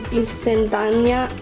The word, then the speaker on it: instantánea: Okay, so I'm going to be using maseca and masa instantánea.